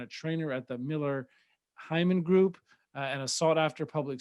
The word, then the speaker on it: Heiman: do this in the middle but is it heyman or hyman how do you pronounce simon hyman okay thank you because i already started saying